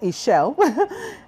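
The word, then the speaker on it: Ixchel: new things new passions a shell pronounced a shell was worshiped by the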